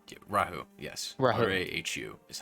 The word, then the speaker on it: Rahu: Specifically, he had said that if you guys had wished to find out more about this entity, Raoul? Rahu, yes, Rahu. R-A-H-U is how it's spelled.